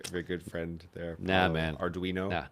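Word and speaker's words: Ardoino: Every should learn how to pronounce the name of your good friend there, man. Arduino.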